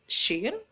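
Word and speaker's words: ش: Kalau shin agak miring, agak ke samping ditarik, ya, seperti kita mengusir kucing, hush hush hush gitu ya. Jadi shin, ya, shin.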